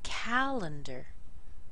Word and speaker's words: calendar: weak syllables elephant calendar calendar even though we have an r at the end that's a very small sound D calendar Miracle very